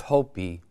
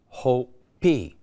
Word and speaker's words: Hopi: Nobody knew it's Hopi. And Hopi, the Ho means tiger. The P, okay, which is interesting because the I is pronounced as an E.